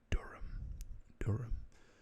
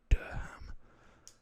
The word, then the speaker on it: Durham: UK, and this is, now in the UK we pronounce it Durham, but I guess in the US it could be like Durham, or something along those lines.